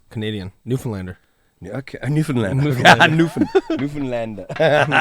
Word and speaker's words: Newfoundland: newfoundlander new york newfoundland newfoundland don't you dare pronounce the found the way it's written newfoundland newfoundland okay cool